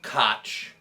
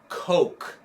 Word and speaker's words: Koch: his name once yeah so the character's name is koch john koch and that one guy a lawyer comes to the porch and he calls him mr coke instead of koch that's a